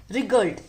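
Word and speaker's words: wriggled: रिगल्ड। इसको देखो W से स्टार्ट हो रहा है, लेकिन W जो है यहाँ पे साइलेंट होता है, तो इसको अच्छे से प्रोनाउंस करना, रिगल्ड।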